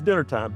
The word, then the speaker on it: DNR-Time: Uncle Harry's Dinner Time, DNR-Time, pronounced dinner.